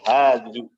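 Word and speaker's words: هذه: Begitu pula hadhihi, bukan hadhihi tapi hadhihi. Ya.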